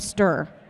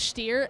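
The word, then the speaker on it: Štír: with the team named stir hang on a minute so it's actually pronounced steer and it means Scorpion and check ah the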